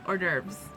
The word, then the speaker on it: hors d'oeuvres: Oh my god, hors d'oeuvres. That's how you pronounce that.